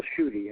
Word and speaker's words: Schutte: Now my name is not easy to pronounce, so you do on duty Schutte, and it kind of slips off the tongue pretty easy.